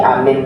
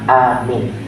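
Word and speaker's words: آمين: Kalau amin, A-nya panjang, amin itu minta dikabulkan kepada Allah. Tapi kalau amin itu maknanya orang terpercaya.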